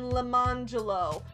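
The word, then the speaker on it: Lemonjello: This discussion at the beginning of the chapter first introduces us to a set of twins named Orange Jello and Lemon Jello, which their silly parents pronounced Orangelo and Lemangelo.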